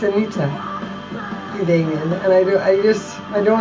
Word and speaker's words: Anita: But I hate it when Americans say my name, Anita. No, it's Anita. It's not Anita. It's Anita.